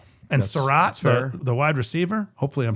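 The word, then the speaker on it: Sarratt: And Sarat, the wide receiver. Hopefully I'm pronouncing that right.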